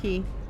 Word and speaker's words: Cay: Oh yeah, from Castaway Cay. Okay, So, I can do Cay that. Key. You tell me how you say it in below. Key.